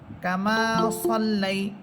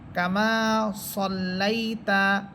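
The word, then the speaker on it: كما صليت: অনেকে কামা সাল্লাই বলে, এটা কিন্তু সিন না। যদি এটা সিন হতো তাহলে সা হতো, কিন্তু যেহেতু এটা সদ, এই জন্য এটাকে মোটা করে পড়বেন এবং আকারের উচ্চারণ ছাড়া পড়বেন।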